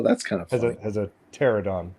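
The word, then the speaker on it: Pteranodon: any money has a petrodon in the logo oh that's kind of has a pterodon a p is silent i knew that thank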